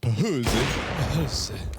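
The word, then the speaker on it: phzy: big green in round actually pronounced pzi that's how the swedes would say it come on stand all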